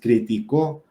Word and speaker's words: criticó: Y si digo, Juan criticó el comentario de fulanito, entonces criticó, es aguda.